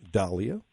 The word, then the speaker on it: Dahl: And I love the way you're pronouncing dahlia, not dahlia. Oh, I didn't know. Well, it was named after a gentleman named Dahl, D-A-H-L. Mm-hmm. And so his name wasn't Mr. Dale, it was Mr. Dahl.